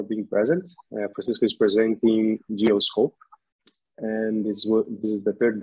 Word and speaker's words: Dioscope: Dioscope or Dioscope? How do you pronounce it? Dioscope.